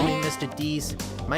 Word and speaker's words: Dees: Dees my name is either way Dees I know that it says dies on the channel sorry I know it says dies but it's pronounced it's deep okay but with that I